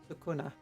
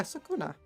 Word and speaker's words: Sukuna: Sukuna. Yeah, Sukuna.